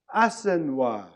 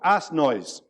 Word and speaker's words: Assenois: Assenois. Not ass noise, which is what it got called.